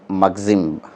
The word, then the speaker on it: মাগজিম: এটাতে খুব প্রিসাইসলি, এই যে মাগজিম, আমরা কেউ কেউ ম্যাগজিম উচ্চারণ করি, এখানে মাগজিম লেখা, সংক্ষিপ্ত, প্রিসাইস, ভাবপূর্ণ বাক্য আছে এখানে।